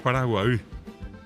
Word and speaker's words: Paraguay: Por ejemplo, el propio nombre de Paraguay, que bien pronunciado es Paraguay.